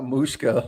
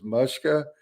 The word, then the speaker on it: Mushka: her name um so it is not mooshka like i have been saying for the past two weeks it is mushka so i'm to bring